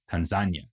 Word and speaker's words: Tanzania: and Tanganyika, giving us the new country of Tanzania, or as it is also sometimes pronounced, Tanzania.